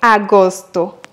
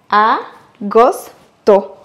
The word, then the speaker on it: agosto: Le huitième mois, c'est agosto, août. Et pour bien le prononcer, on va les décomposer en trois. Agosto, en accentuant sur le premier O.